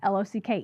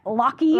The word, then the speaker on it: Locke: maiden name was Locke, L-O-C-K-E. Okay. So I kind of, like, used to it because, like, people used to be like, Locky, and I'm like, it's Locke. The E is silent.